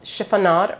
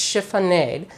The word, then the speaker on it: chiffonade: commenters who told me this is called chiffon odd or it's chiffonade depending on your preference I guess but I